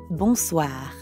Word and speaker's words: bonsoir: We already know how to pronounce the first part, bon, because it's the same in bonjour. And the second part is soir. That means evening. Soir. The end sound is kind of like saying ah at the dentist.